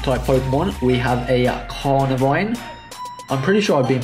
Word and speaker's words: Carnivine: We have a Carnivine. I'm pretty sure I've been pronouncing that wrong this entire time. I'm pretty sure I say Carvinine.